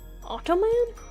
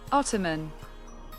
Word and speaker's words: ottoman: Ottoman? That's not how you say that. It's pronounced differently. Ottoman. Ottoman?